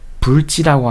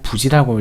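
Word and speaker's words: 不知: 인부지, 아니 불자를 제가 불지라고 안 하고 부지라고 읽었는데 이건 이제 불자가 디귿이나 지읒과 합쳐졌을 때는 발음을 부라고 하는 그런 법칙이 있죠. 물론 이거를 좀 보수적인 발음을 유지하시는 분들은 불지 이렇게 읽기도 하시는데 그런 전통적인 거를 존중하는 것도 좋지만 저는 현대의 어떤 감각에 조금 맞출 필요도 있다고 생각해서 부지라고 하겠습니다.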